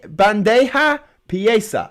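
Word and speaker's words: bandeja paisa: that's just me um david is correcting my spa my pronunciation obviously band hey bandeja pieza yeah that's it in spain it's called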